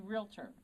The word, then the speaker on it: realtor: I think that, and my first word was probably realtor, without the extra syllable in there also.